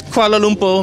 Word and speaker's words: Kuala Lumpur: It's Kuala Lumpur, Malaysia.